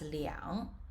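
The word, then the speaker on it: 两: billion anything above that whenever you see the number two starting from the thousands it must be pronounced as liang so what i mean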